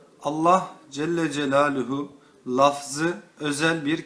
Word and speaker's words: Allah: ya kerimu diye okunur fakat Allah Celle celalühu lafzının başına ya Nida harfi gelince ya Allah diye okunur Yallah diye okunmaz Bu yüzden Allah Celle